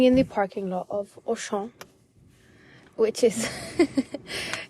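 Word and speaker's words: Auchan: the parking lot of oan which is that's how you say it in French because my sister's boyfriend informed me that it's not ocean it's oan it's basically just a grocery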